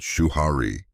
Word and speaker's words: Shuhari: "It is called Shuhari," he replied. 3 syllables, 3 worlds, 1 destination. Shu, obey. Ha, break. Re, transcend.